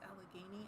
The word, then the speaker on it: Allegheny: Allegheny River. Oh, and no. I called it that for like 2 years until someone was like, actually, it's Allegheny.